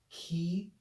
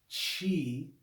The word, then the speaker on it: chi: english but more perfectly it's ki ki definitely not chi that ch sound in cheese does not come from classical greek so key key combination